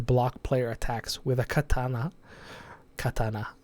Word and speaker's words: katana: attack animation to block player attacks with a katana Katana how it's actually pronounced the Japanese by the way Katana Katana